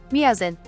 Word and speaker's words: Miazen: Mia, I can't say your name. I'm ask how to say it. Miazen. Ah, it was close. Mazin.